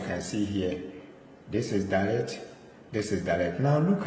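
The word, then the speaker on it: דלת: Then we have Dalet. Dalet. So this is a D sound.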